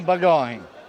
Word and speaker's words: Bagoni: Allora, questa festa, mi può dare la pronuncia giusta? Festa de Bagoni. E poi c'è anche il surrogato, Alla festa dei Bagoni.